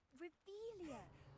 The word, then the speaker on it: Revelio: Revelius. You're saying it wrong. Ugh, Revelia. Much better. Oh, shut up. Wait. Accio. Revelio.